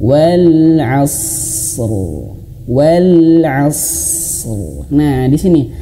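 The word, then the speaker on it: عصر: Dan rnya dihadirkan tebal huruf rnya ya. Asr wal asr. Nah, gitu. Wal asr. Kesalahan yang pertama yang sering sekali adalah ketika di sini membacanya itu langsung gini. Wal asr. Wal asr. Udah mah huruf shadnya tidak ada angin yang ditahan ya. Karena huruf sad ini hamesnya itu ya hamas sifatnya itu ditahan dulu ada tempo wal asr.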